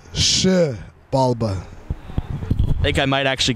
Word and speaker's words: Xibalba: So a lot of people like to say Xibalba. It's Xibalba.